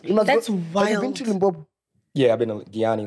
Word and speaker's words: Limpopo: In Limpopo? Yeah. Limpopo. Are you from Limpopo?